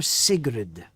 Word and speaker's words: Sigrid: warrior from the north they say her name sigrid i believe sacred yes they call her sigrid s-i-g-r-i-d the little fellow the little goblin curious